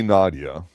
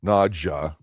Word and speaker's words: Nadja: So, we can't say Nadia as the lady because it's pronounced Nadja.